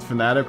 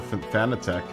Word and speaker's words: Fanatec: or fnatic german i mean you can pronounce it fanatic or fan attack i just think it's fanatic just like like a like like a fanatic like i guess you could all call it fanatec either way you're just putting the